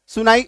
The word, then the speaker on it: son: ठीक है, ये आपको सुनाई मतलब बस आवाज आएगा, ये आपको दिखाई नहीं देगा।